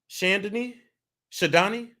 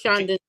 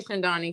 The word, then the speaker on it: Chandani: Shadani? Can you hear me? Yeah. Is it Shadani? It's Chandani. It's technically Chandani. That's the Arabic way to pronounce it.